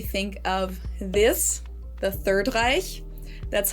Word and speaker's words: Reich: I think in English we say Reich, which I guess is probably just because we don't have the sound, like the CH sound at the end we don't have, so I guess people just make a K, Reich.